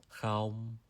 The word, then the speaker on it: không: So the closest word in English that I could compare it to is hockey. So it's pronounced kha in Vietnamese.